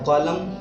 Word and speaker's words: column: Silent हो जाएगा कंडेम, COLUMN N silent हो जाएगा कॉलम, REIGN रीन पढ़ते हैं इसको जी साइलेंट हो जाता है, PSYCHOLOGY पी साइलेंट हो जाता है साइकोलॉजी।